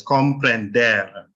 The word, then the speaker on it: comprender: This ends in an R, so you stress the final syllable. So it's comprender, alabar, recibir, señor.